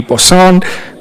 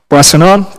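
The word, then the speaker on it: Boissonnault: of Public Safety, the Honourable Randy Boussonant, I think that's how you say it, Minister of, pardon me, Your Worship? Boissonant, thank you very much, Your Worship.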